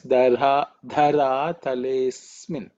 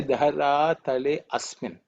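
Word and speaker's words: धरातलेऽस्मिन्: Okay, so the way we read it is dhara talesmin. We don't say dhara tale asmin. Okay, that's because of a sandhi.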